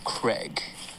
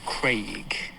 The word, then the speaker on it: Craig: actor should I say it doesn't rhyme with egg. It's not Daniel Craig. It's Daniel Craig. Okay. So it's a long vowel sound.